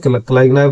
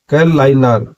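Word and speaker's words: Kalaignar: जैसे हिंदी वाले क्या बोलेंगे? क्लाइगनार बोलेंगे, और जो तमिल वाले हैं उसको क्या बोलेंगे? कैलाइनार। जी साइलेंट आ जाएगा।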